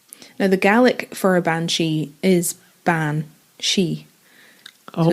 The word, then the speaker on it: banshee: Banshees. Banshees are predominantly present in Irish folklore, like I said, but legends of banshees also appear in Scottish stories. Now, the Gaelic for a banshee is ban-she.